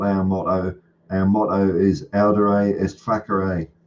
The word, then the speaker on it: audere: Audere est facere, or as we used to say, audire est facere, because we didn't know how to pronounce Latin.